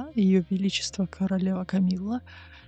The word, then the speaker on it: Камилла: В частности, опять же, этот мужчина, который рассказывает, он снова немножко произносит более на французский манер с йотом. Так как это имя собственное, то скорее, конечно, оно произносится именно Камилла.